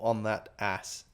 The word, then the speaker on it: On That Ass: I do have a monthly subscription from On That Arse or On That Ass. It's ON. Well, you know it's spelled On That, but ass like ASS, not ARSE. But they're really comfy, and if they're up for sponsoring, that'd be wicked.